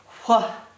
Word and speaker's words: what: the a sound T makes the T sound what but a doesn't say ah it says Ah it's not flat if you pronounced it phonetically it would say flat but